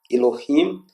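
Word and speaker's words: אלהים: Então faz Rim, e aqui eu tenho um Mem final, Mem sofítico. Então, Elohim, Elohim, tá aqui, coloquei para você, ó.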